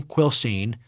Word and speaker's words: Quilcene: Although the name Quilcene is spelled as if it has only two syllables, it was traditionally pronounced Quilcene with three.